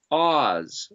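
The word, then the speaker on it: עז: as the letter z so it would be pronounced as oz like the wizard of oz the land of oz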